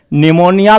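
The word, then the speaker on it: pneumonia: प्लीरो निमोनिया like organism. निमोनिया पी से शुरू होता है, पी साइलेंट रहता है।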